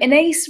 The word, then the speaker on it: Ines: I'm Ines, rhymes with face, space, occasionally disgrace.